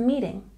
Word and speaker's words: meeting: We have a stress on the first syllable in meeting. And this symbol here under the T shows us that it's a soft T sound, just like in the numbers in the tens.